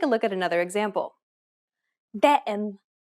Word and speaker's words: دائم: دائم ضابط. The first example is pronounced as expected.